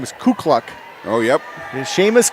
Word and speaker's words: Seamus: Ku kluck oh yep Sheamus KU kluck and so it looks like Seamus s-e-a-m-u-s so they pronounced his first name and last name wrong all day today see Miss and then KU kluck